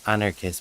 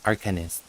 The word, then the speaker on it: Arcanist: an honor kiss uh sorry not Anarchist but Arcanist I kept mispronouncing that so The Arcanist is